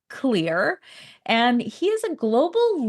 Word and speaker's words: Xlear: It's pronounced Xlear.